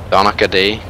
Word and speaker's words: Donaghy: Donahue? Donahue? I guess the G is silent kinda, and kinda wiggled in there. Donaghy.